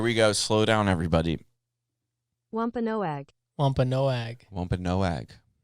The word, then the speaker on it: Wampanoag: go slow down everybody wampanoag yeah so now that it's google has corrected us on that um it makes a lot of sense that that's how you pronounce it yeah wampanoag lump and no egg so what did they